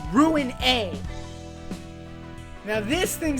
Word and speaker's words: Ruina: library of Ru Rua it's ruina and I will not say any other way today crazy laborator what are